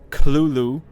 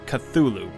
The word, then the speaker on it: Cthulhu: let's learn about it craft himself gave several differing pronunciations of the creature's name throughout his life including culu with a heavy guttural first syllable the most common pronunciation however is cthulu popularized much later after lovecraft's death the truth of the